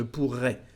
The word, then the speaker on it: pourrais: Well, here we've got two letter R's, so it is sometimes we insist in the pronunciation. Je pourrais, tu pourrais, okay? Not all the time, but if you want to make a difference, yes, you can insist on this letter R.